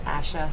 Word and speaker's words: ASHA: find the Asia standards sorry I say Asia it's Asha I know that's how you pronounce that acronym as slps if you